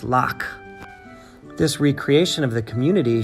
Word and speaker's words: lough: ello ugh s sometimes pronounced low in English but here it's loc this recreation of the